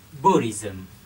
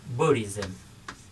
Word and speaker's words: Buddhism: chúng ta đọc là buddhism buddhism B bạn chúng ta nhấn phần một buddhism à là là về